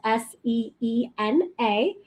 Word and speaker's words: Seena: Sleem, and that's spelled SEENA SLEEM. And I always say Seena like John Cena, so you'll never get confused with how to pronounce it.